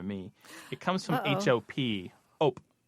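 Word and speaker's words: hop: it comes from ho o p op it sounds like op in French because you don't pronounce the h so alop alop like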